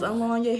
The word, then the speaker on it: Alonya: And if you don't know who I am, my name is Alonya. Here on YouTube, it is spelled AHLAWNYAHXO, but in real life, it is spelled Alonya, ALONYA.